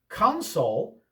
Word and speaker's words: console: Console with the accent on the first syllable is an area for the controls of a piece of equipment or a machine. I have an Xbox gaming console.